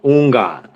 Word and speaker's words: Houngan: It's like the H is silent, so like Houngan. Houngan. Okay, that's good to know. Thank you. Okay, we have some questions for you. So marry me, Houngan Sen Jak.